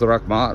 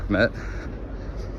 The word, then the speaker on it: rakhmat: And it's rakhmat or rakhmet. Kind of depends what area you're in for pronunciation.